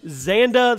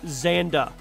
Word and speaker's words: Xanda: Xanda the Linked Swords, which is a straight ripoff, you guessed it, of Legend of Zelda. I didn't mispronounce that. This game is legitimately called Xanda, the Linked Swords.